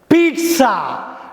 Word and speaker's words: pizza: ஒரு fast ஃபுட்டுங்க, பீட்சா. நம்ம என்ன சொல்லுவோம்? பீஸா. பீஸா பீஸா பீஸா கிடையாது, பீட்சா. PIZZA தான். ஆனால் ஸ்பெல்லிங் வந்து PIZZA தான். ஆனால் படிக்கிறப்ப இந்த டா சவுண்டு வரணும். பீட்சான்னு படிக்கணும், பீஸான்னு படிக்கக்கூடாது.